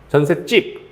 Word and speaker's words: 전셋집: 그래서 전셋집 이렇게 발음나겠죠. 전셋집. 이것도 되고 음절 끝소리 규칙에 따라서 어떻게 쓰는 것도 돼요. 전셋집. 이거 둘 다 됩니다.